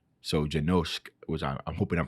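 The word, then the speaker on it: Janoušek: his last name and not to pronounce like the S as a S, but a sh. So Janosk, which I'm hoping I'm pronouncing that right.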